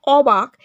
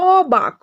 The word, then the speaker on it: অবাক: Next আমাদের কি বলেছে দেখো, অবাক। এখানে অ বর্ণটি উচ্চারণ অধ্বনির মতো।